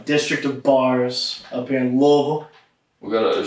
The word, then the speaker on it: Louisville: in wool we're gonna you can't say the Louisville that's wrong you can but it's like whoa it's like one and a half syllables it's not it's not free it's not really even - it's about one and a half wool so how do you